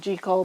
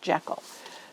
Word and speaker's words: Jekyll: Garden shows I called G Cole but I've read online that is properly pronounced Jekyll just kind of like Dr Jekyll and Mr Hyde um so but look